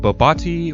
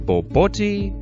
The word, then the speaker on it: Bobotie: south african classic babooty now i know there are a bunch of ways to pronounce this i've always called it babooty but i hear a lot of people calling it babati or even boboti but ultimately whatever you